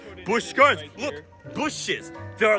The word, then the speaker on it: Busch: In the Triple J universe, it's pronounced the same, but you take away the C in Busch Gardens. Busch Gardens.